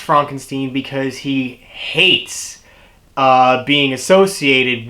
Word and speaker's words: Frankenstein: Frederick Frankenstein played by Gene Wilder he wants it to be pronounced Frankenstein because he hates being associated with the Frankenstein's you know referring to